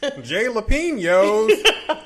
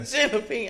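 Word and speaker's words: jalapeño: I did that famous incorrect pronunciation of J. Oops. Jay Lapinos. No. That's a good one. Yeah. Jalapeno.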